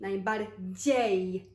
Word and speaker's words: najbardziej: from D, Z, I, and it sounds like G, najbardziej, because then we have E afterwards, and that E is what makes the sound J, and then, you know, the J letter we pronounce as Y actually in English.